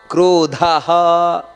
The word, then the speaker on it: ಕ್ರೋಧಹ: ನಹುಶೋ ದೀರ್ಘ ಇದೆ ವೃಷಹ ಆಮೇಲೆ ಕ್ರೋಧಹ ದ ಅನ್ನೋದು ಮಹಾಪ್ರಾಣ ಹ ಅನ್ನೋದು ದೀರ್ಘಾಕ್ಷರ ಕ್ರೋಧ